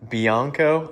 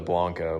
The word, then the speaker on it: Bianco: Bianco, I thought it was Blanco, but Bianco Calcutta, I think is the name of it.